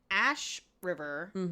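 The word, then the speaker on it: Ashryver: him brutally and Archer transforms into Dorian Aden Ash river is how she pronounces it in the B Ash River yeah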